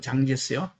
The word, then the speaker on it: 장제스: 장제스하고 장시혜량에 의해서 하나로 돼가지고 장제석은 중국식 발음으로 장제스요.